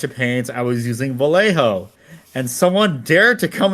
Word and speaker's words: Vallejo: using a bunch of paints I was using Vallejo and someone dared to come into my stream and said excuse me it's pronounced valo cuz they're in Spain and then it's like